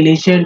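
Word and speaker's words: listen: है अवेलेबल और लिसन लिसन में टी जो है साइलेंट होता है ठीक है लिसन टू the Hindi news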